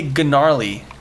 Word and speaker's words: gnarly: I hate the silent G's. They annoy me. I pronounce like I pronounce the silent G's explicitly.